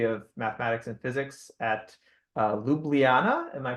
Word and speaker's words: Ljubljana: at the Faculty of Mathematics and Physics at Ljubljana. Am I pronouncing that right?